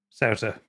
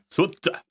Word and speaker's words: Souta: Souta. Souter. Souta. Outer, yeah. It's pronounced completely different in Japanese. Suta.